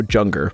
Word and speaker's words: Junger: Alejandro Junger. I'm just saying, man, this guy might be trying to get world hunger to happen. His last name is Junger. That's no coincidence. It rhymes with hunger.